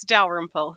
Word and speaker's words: Dalrymple: Okay, so on, and I'm going to ask her how to pronounce her last name. Excellent. It's Dalrymple.